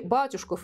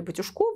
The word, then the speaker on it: Батюшков: заплатить до нее романтизм данном случае батюшков или батюшков до варианты постановки ударения здесь есть да а фамилия поэта